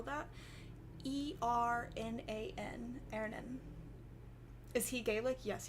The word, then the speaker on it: Ernan: His name is Ernan. It means it means iron in Gaelic, because he's made of iron. He's my little iron survivor baby. How do you spell that? E-R-N-A-N.